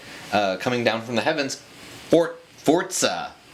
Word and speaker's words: Forza: down from the heavens, Forza. It's not Forza, it's Forza. Did you know that? Forza. Yeah, that's apparently how you pronounce it.